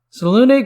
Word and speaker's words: Selûne: up on such things but that's the proper pronunciation and i'll do my best not to slip into old habits titles salone goes by the following titles our lady of